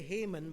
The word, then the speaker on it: Haman: But we get here in chapter 3, all these things King Ahasuerus promoted Haman. We say Haman, but sometimes it's pronounced Haman, the son of Hammedatha,